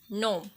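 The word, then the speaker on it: gnome: Sign, foreign, नोम। यहाँ पे जी जो है वो साइलेंट रहेगा।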